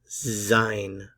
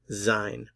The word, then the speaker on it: sein: so the infinitive to be in German is zein zine this is the most important verb you'll learn